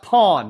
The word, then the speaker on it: Phone: is spelled phone however it is not pronounced phone okay it's pronounced Pawn you don't pronounce the E the E is silent all right the E